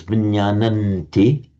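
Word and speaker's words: viññāṇanti: You would still pronounce it as vinyananti.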